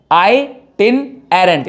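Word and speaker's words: itinerant: आई मैं आपको समझाता हूं कैसे आप इसको ब्रेक डाउन कर सकते हो। आई आंखों वाला आई, TIN टिन, ठीक है। एरेंट, आई टिन एरेंट, यानी आइटिनरेंट। आप इसको ऐसे प्रोनाउंस करोगे।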